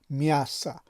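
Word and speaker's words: мясо: میاسا نوشته شده اما تلفظ این کلمه چی است؟ میاسا، یعنی آ در این کلمه مثل که در اون درس های قبلی گفته بودیم که آ اگر در بالایش زدن افتاده باشد ا تلفظ می شود. در کلمه میاسا آ تلفظ شده است و معنایش چی است؟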